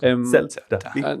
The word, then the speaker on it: Celta: Is that how you say it? Celta or Celta Vigo? Celta. Man City, really like.